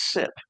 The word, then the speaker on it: sip: sip left in your, or is it sight because it's short for siphon? How do you say that? Is It's it? no, it is sip.